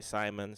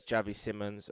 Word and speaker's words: Xavi Simons: how to say his name some people say Simon some people say Seymour but it's Javi Simmons he's a player that I have um known